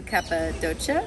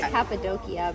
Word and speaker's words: Cappadocia: And I was planning to do Cappadocia. Am I saying that right? I don't know. I call it Cappadocia, but Cappadocia. Okay. You're right. That's the right way. I always say it wrong.